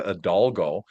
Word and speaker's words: Hidalgo: a great name, but she has an H at the beginning and I just learned not to pronounce it with it. So, I did really good the first time. It's Monica Adalgo.